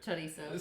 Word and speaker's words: chorizo: I say it like that because that's how you're supposed to say it.